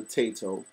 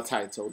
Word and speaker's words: Taito: We got Renegade on the NES from its original publisher, Taito, or Taito, depending on how you want to pronounce that.